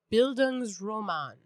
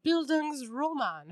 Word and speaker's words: Bildungsroman: So Kipling, among many others, he wrote what are called, I'm going to say it wrong, Bildungsroman.